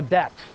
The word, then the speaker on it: debt: a bit okay A debt and yes it is debt it is not Dept I have heard people say oh the dep the be is silent English doesn't make a